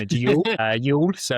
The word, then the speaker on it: Youghal: I had to correct my pronunciation of the Irish name of Youghal. Youghal.